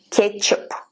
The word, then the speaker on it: кетчуп: Practice it with the word часы, чисто, часто, час, точка, почта, кетчуп, чай, час, точка, почта, кетчуp, chai. Ketchup spelled with T, but we don't pronounce T. Ketchup, we say ketchup. Same in English, ketchup.